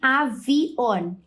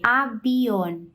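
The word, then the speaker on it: avión: mas isso é incomum é mais comum vocês escutarem pessoas pronunciando com o som de B abion abion tá outra palavra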